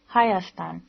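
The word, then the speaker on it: Հայաստան: economic conditions of armenia in armenian armenia is pronounced hayastan and is as old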